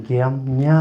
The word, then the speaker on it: ग्याम्या: जैसे कि मेरा नाम जो है ग्याम्या है, वो बाहर का आदमी उसको प्रोनाउंस नहीं करता, गामना बोलता, गामना, शॉर्ट में गामना।